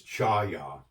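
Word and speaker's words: חיה: Its pronunciation in Hebrew is chaya.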